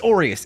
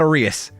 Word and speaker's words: Orius: It's Orius. It's not Orus.